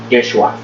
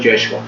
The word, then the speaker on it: Yeshua: categóricamente dicen no es Yeshua, ¿no? Así es el nombre que se pronuncia más o menos en hebreo, ¿no? No es Jesús, no es Yeshua.